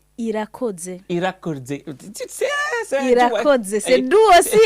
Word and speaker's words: Irakoze: Comment tu prononces? Irakoze.